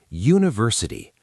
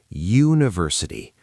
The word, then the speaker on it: university: University. How does it start? You say it. University. That first sound, you, is actually the same sound as the letter Y, and Y is a consonant sound.